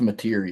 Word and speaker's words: Mateer: You got, is it pronounced Mateer for Oklahoma? I think it's Mateer, yeah.